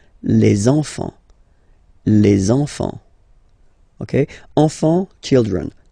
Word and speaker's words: enfants: So you should make the little link. Les enfants.